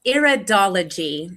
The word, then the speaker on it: iridology: It's iridology.